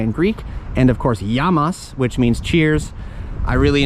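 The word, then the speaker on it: γεια μας: And of course, yamas, which means cheers.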